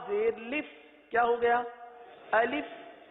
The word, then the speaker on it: الف: الف. اب اس کو الف پڑھنا یا الف پڑھنا یا الیف پڑھنا، یہ غلط ہے.